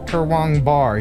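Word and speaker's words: Kurwongbah: Pronounced Kurwangbar, he says.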